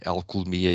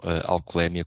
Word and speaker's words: alcoolemia: agora uma pequena curiosidade a forma correta dizer ela economia e não alcolemia como muitas vezes ouvimos porque é uma palavra de origem grega em que a sílaba tônica é hume e daí deste de dizer algo demia da mesma forma que se diz leucemia e não leucemia quando ingerimos uma vida